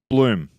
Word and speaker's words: Bloem: Um how do you pronounce your surname? Bloom.